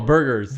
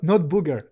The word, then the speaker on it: burger: Oh, burgers. It's again. Not booger. Not booger. Not booger. Burger.